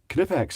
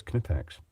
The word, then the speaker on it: Knipex: I thought Knipex was said with a silent K. Some people here would call it like knife Knipex, but I'm pretty sure it's Knipex.